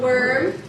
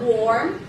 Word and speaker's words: worm: Worm, right? It's not warm. Warm is ham and worm is kolat, right? Worm, say it, worm.